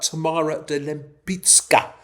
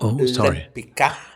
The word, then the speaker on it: Tamara de Lempicka: I'm going to talk about Tamara de Lempicka, not Lempicka. We're going to discuss pronunciation, Mr. Bendor Grosvenor. If you're going to be calling Lempicka, you're going to be Grosvenor to me. Very important Polish pronunciation.